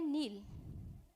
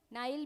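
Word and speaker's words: Nile: सबसे पहले देखो ये है नील, नाइल भी कह लेते हैं, नील भी कह लो, नाइल भी कह लो, प्रोनाउंसिएशन में कुछ नहीं रखा, बस आपका याद होना चाहिए।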